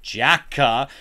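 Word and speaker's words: JAKQ: not an ungodly reason it's spelled j a k q but to make that sound like an actual word they pronounce it Jacka Den geki Tha which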